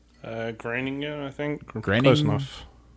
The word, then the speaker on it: Groningen: He'll be playing in the Dutch Eredivisie for Groningen. Am I pronouncing that correct, Dan? Groningen? Groningen, I think.